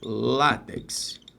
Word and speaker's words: látex: O primeiro passo é o seguinte: não errar a sílaba tônica, né? Se eu falar látex, aí deu rolo. Não, é látex. Então, se é látex, a sílaba tônica, concentre. É o lá, é uma paroxítona.